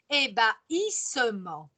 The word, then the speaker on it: ébahissement: long un peu compliqué ébahissement on le prononce et ba hy parce que ce h me fait la rupture ébahissement quand il ya l'ébahissement